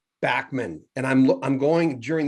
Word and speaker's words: Bachman: live that kind of in england it's real quick it's beckman turner overdrive in canada it's bachmann and the states is